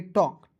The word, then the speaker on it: talk: उसके बाद यहाँ पे TALK तो पढ़ेंगे टल्क नहीं पढ़ेंगे, इसे पढ़ेंगे टॉक, TALK तो इसे पढ़ेंगे टॉक।